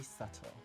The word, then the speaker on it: subtle: Subtle, you spell it S-U-B-T-L-E. But why is the B in the middle?